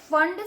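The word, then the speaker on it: Pfund: यहाँ पे P silent है, इसको फंड सीरीज पढ़ते हैं।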